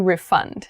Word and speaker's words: refund: like a refund yeah so be careful of the difference in pronunciation between noun and verb form but when you return